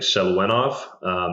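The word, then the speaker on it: Seluyanov: off of, and that's Victor, I think Seluenov. That's how you say his name, old Russian sports scientist.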